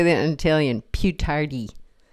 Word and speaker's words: più tardi: Più tardi. Più tardi. Più tardi. Emphasize the second syllable.